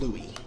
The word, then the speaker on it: Louis: name is Louis CK it's spelled Lewis like Saint Louis but it's pronounced Louie I had no idea